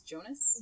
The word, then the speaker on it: Jonas: it done' Jonas Jonas pretty sure it's Jonas but I think I just started calling him Jonah I don't know you listen to it I they pronounce it as Jonas they I'm pretty sure